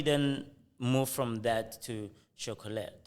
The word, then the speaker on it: Shockolate: So you've got Surrender, and then now, how do you then move from that to Shockolate?